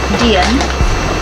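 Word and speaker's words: dygn: blend day and night inspired by the Swedish term Dian you don't know that that's how you pronounce it D ygn I believe D ygn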